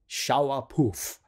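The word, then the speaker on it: Shaiapouf: a few times and she's saying shawa po shawa poof right I mean it's spelled um you know Shia right again that joke uh you know sh lauff and all of that came from the spelling of it but you know that's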